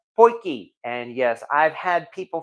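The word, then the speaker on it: potjie: all so and as I mentioned already it's pronounced poiki and yes I've had people from from South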